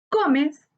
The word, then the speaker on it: Gómez: Gómez es una palabra grave. Su sílaba tónica está en go, que es la penúltima sílaba. Se tilda porque termina en z.